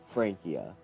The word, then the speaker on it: Francia: getting this wrong but Francia is pronounced Frankia now I know that